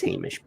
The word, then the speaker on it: Hamish: I always mispronounce his name on purpose. I know it's Hamish, but it's fun to.